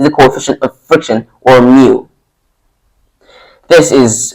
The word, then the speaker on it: mu: coefficient of friction or mu this is how you this is how it's pronounced this is a Greek letter mu let me write it